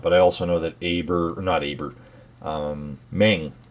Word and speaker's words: Meng: But I also know that Meng, or Mung, I guess is how it's supposed to be pronounced. Mung make stuff like that as well, and I believe Bronco do as well.